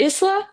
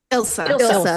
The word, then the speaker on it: Ilsa: I am honestly surprised that Murphy, Strike, her mom, is it Isla? It's Isla, right? Not Isla. Ilsa.